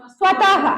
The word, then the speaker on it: स्वतः: जैसे मान लो जो है यहां पे स्वतः के बाद विसर्ग लग गया तो इसको क्या पढ़ेंगे? स्वतः। अगर विसर्ग नहीं रहेगा तो स्वत।